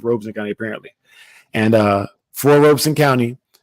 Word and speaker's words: Robeson: I called it Robeson County growing up, but it's pronounced Robeson County apparently.